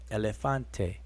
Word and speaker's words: elefante: Same concept is linked to the Spanish pronunciation of elefante.